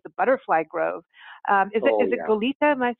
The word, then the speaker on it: Goleta: So we have in Goleta, and you're right, that's how we pronounce it, Goleta, which actually is an old Spanish word for ship. So it was a certain kind of ship, and so Goleta actually was named for that.